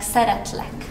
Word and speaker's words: szeretlek: It's here and it is pronounced like szeretlek.